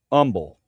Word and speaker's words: Humble: When I came through CA uh we were moving from um San Antonio to uh Umble. Um Texas. Humble. If you're from there, it's called Umble, though. It's spelled Humble.